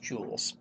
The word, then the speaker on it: joules: It's pronounced jewels like like the rich people's jewelry.